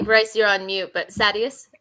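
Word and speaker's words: Sadeas: you're on mute but sadius okay that's what the audiobook says if you want to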